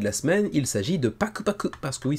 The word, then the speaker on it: Paku Paku: semaine il s'agit de Paku Paku parce que oui ça s'écrit Paku PAC mais en réalité ça se prononce en japonais Pak Paku en fait deux fois voilà c'est un